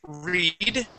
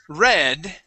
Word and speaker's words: read: this word um um you don't know if it's pronounced read okay with a with a long e okay which would be present tense okay or or if it's red red with a short e sound okay red is going